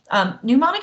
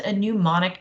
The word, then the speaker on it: mnemonic: us remember latin cases pneumonic is a really crazy weird fun word okay it's from a Greek word which is why it starts with a silent n I mean how many